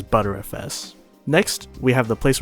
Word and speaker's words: BTRFS: You want to pick Erase Disk, and under it pick BTRFS, which is pronounced as ButterFS.